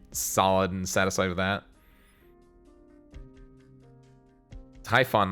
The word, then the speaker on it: Typhon: and satisfied with that Typhon not typhoon wait is it pronounced like Typhon really I thought Ben just